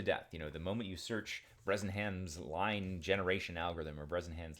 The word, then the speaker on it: Bresenham: And I think it is important, especially because these algorithms that are used, things like Brezzenham's line algorithm, it's a classic, Brezzenham's line algorithm. I always get the pronunciation, I think, correct, but the spelling, half the time I get wrong.